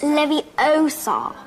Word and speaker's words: Leviosa: take someone's eye besides you're saying it wrong it's Leviosa not Liv you saw pick a